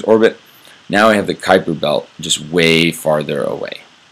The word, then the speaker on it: Kuiper: all right it's spelled kind of koiper but pronounced kuiper is named after the astronomer who predicted its